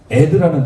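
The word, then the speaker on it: עד: 유일하게 크게 있는 단어 이 두 개를 합하면 에드라는 단어가 나옵니다. 에드. 에드라는 단어는 뭐냐면 증인이라는 뜻이에요. 놀랍습니다. 에드 이렇게 쓰거든요. 이렇게 읽어요. 아이는 에의 발음이죠. 에드, 에드.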